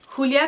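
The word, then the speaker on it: Julia: old who uraeus and I say who Lea because the character is very specific on how she wants her name pronounced in the book so I will respect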